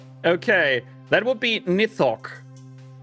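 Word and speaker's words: Nithoch: Okay, that would be Nithok. N I T H O C H. Okay. would be spelled almost like pronounced almost the same but would look very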